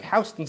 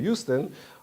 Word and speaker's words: Houston: It's spelled B-U-E, but just like Houston Street in New York is Houston because that's what it is, even though one normally think it would be Houston, or you have Tui in Chicago for some odd reason.